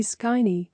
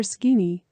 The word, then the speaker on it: Skini: Let's start with the basic principles of our system, whose codename will be Skini or Skini, according to a more French pronunciation.